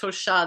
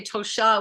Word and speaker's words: Tosha: But anyway, so that's the Tosha, and it looks like Tosha, but it's pronounced Tosha. The accent, like yours, is one of the interesting layered names. I call it layered. But when you say Tosha with the accent on the end, it's in Lakota, it's a vibration for a ceremonial color of violet.